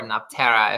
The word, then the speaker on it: Nefertari: famous um historical grandmother not nefertari or napterra if we're gonna use accurate pronunciations which i didn't do